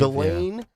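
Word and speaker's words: Ghislaine: jzan galain I believe galain Maxwell I don't know it's almost like Elaine with a G yeah well I don't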